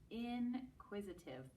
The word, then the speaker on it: inquisitive: Inquisitive. Let's clap that word out. Inquisitive. Ooh, that had 4 syllables.